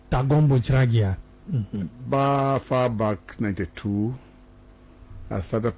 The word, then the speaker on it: Tangombu Chiragia: As you pronounce it, let me pronounce it again for you. It's Tangombu Chiragia. Tangombu Chiragia.